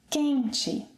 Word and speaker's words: quente: The next word - 'quente'. 'QUENte' - see? The stress is again on the 2nd syllable to the last, meaning that the final 'e' is unstressed.